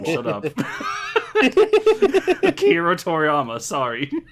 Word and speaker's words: Akira Toriyama: Was it A, a thank you to Akira Toriyama for inspiring us all to use our imagination? I know I just said that name wrong. Shut up. Akira Toriyama.